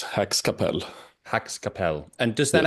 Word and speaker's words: Häxkapell: to potentially mispronounce things so Hax Capel that's how I should say the name of your musical project is that more or less correct more or less Hax Capel Hax Capel and does